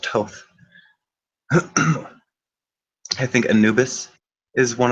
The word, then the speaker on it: Thoth: would call him to or Thoth is what they call but it's pronounced to I think Anubis is